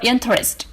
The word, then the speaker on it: interest: Next, the stress for interest is on the first syllable.